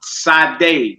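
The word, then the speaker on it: שדה: A field, sadeh. Sadeh like the singer.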